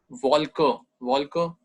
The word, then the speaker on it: Wolke: Then we have W is V sound. V sound यहाँ पे आएगी. Wolke, cloud, Wolke.